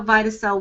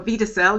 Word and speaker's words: Vidacell: now we understand how vitae cell works or Vita cell you can pronounce it either way but in terms of